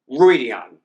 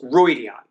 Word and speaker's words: Rhuidean: Rhuidean. You know in the glossary it's three syllables, Rhuidean.